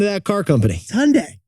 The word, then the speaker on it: Hyundai: of that car company Hyundai just like Sunday it's Hyundai not Hyundai